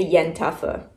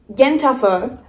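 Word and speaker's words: yen ta fo: let's start with the yen tougher so this is an amazing bright paintbrush yes congealed blood at the bottom what a bonus Jen tougher pronounced Yenta like a gossiping Jewish woman and four as in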